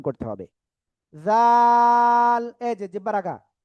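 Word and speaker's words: ذال: লাগিয়ে আপনার এক দুই তিন আলিফটা নিয়ে অক্ষরটা উচ্চারণ করতে হবে। জাল এইযে জিব্বারা আগা জাল জাল সবাই একসাথে আনমিউটে জোরে জোরে বলেন সবাই ওকে আলহামদুলিল্লাহ আলহামদুলিল্লাহ আমরা এটা ক্লিয়ার হয়ে গিয়েছি।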